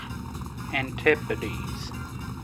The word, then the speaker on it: antipodes: Antipodes. Antipodes. Okay, that's how it's pronounced.